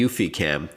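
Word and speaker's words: eufyCam: to do that with the UfiCam, which is spelled EUFY cam.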